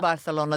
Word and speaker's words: Barcelona: you go to Barcelona Barcelona that's how it's pronounced by the Catalan you see did you